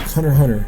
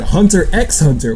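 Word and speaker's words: Hunter × Hunter: some people pronounce it hunter x hunter which makes me not want to cut you it makes me want to deck you in the face that's right cry stop pronouncing the x anyway this show first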